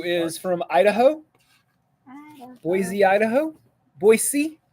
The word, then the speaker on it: Boise: Boise, not Boise. It's very important. It's spelled with an S, not a Z.